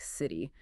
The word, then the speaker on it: city: Listening closely to native speakers and trying to imitate that soft D or quick tap for the T in these positions can make a huge difference in how natural you sound.